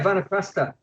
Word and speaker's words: Vanaprastha: If I pronounce that correctly? Yeah, Vanaprastha.